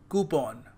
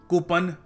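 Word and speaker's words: coupon: मिला है ठीक है सो इट इ नॉट कुपन इट इज कूपन कूपन ठीक है सो आपको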